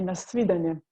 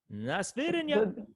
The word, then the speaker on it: na svidanje: You can say na svidanje. Na svidanje. Na svidanje.